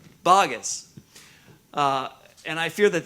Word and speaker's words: Boggess: Maybe it actually is supposed to be pronounced bogus, but we won't let that happen, right? No, it's not bogus. It's bogus.